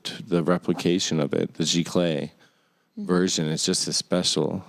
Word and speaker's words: giclée: And you'd rather have the original, of course, but the image of it, the replication of it, the giclée version, is just as special.